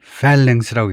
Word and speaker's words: phalanx: phalanx라고 읽을 것 같은데 발음서부터 그래서 거기 보면 우선 발음이 어떻게 되냐면 phalanx 앞에다 음절을 두네요. phalanx 앞에다가요. phalanx라고 있네요.